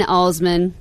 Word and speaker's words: Alsman: You can follow me on the Twitter on it's JN Alsman, and that's ALSMAN, which is not pronounced Alsman like my former college roommate from Michigan. She could not say Alsman for anything.